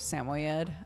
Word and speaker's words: Samoyed: I started saying it that way instead of Samoyed. Apparently Samoyed is the more common stress on the right syllable sort of situation.